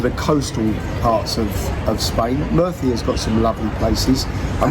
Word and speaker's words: Murcia: If you're not worried about going to the coastal parts of Spain, Murcia's got some lovely places. I mean, that's spelled or pronounced for yeah, us, M-U-R-C-I-A.